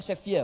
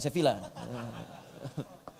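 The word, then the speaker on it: Sevilla: Eh bacanya Sevia bukan Sevila. Sevia ya bacanya Sevia ya.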